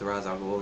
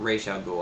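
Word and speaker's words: Ra's al Ghul: stuff uh like with razal ghoul and whatnot not Ral ghoul I don't know why they pronounced it like that in Arkham City but hey whatever um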